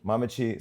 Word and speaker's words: Mamekyi: That ain't no I CH know, there. but that's the trick of it.